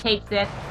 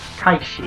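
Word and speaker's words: Cait Sith: Oh, freaking Kate Sith. Kite sheet, if I remember correctly, is how they're properly pronounced.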